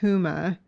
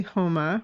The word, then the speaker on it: Huma: who don't know and many people pronounce her name huma but it's actually homa which i've learned by